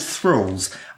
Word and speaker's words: Thrull: I'm going to say things called thralls.